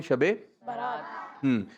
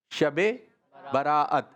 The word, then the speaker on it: شب براءت: شب برات۔ کچھ بچے کہتے ہیں شب برات، شب برات، شب برات، شب برات، یہ بولتے ہیں شب برات۔ اس کی صحیح ادائیگی ہے، صحیح تلفظ ہے شب براءت، شب برات، شب براءت، سب مل کر بولیں۔ اور اس رات اللہ